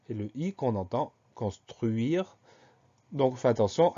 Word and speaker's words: construire: Première syllabe, con, C-O-N, tout va bien. Deuxième syllabe, on peut dire que dans la première syllabe, on va mettre le S aussi, cons, C-O-N-S. Deuxième syllabe, truire, même deuxième et troisième syllabe, truire, T-R-U-I-R-E. Au final, dans ce mot, on entend toutes les lettres, sauf le E de la fin qui est un E muet.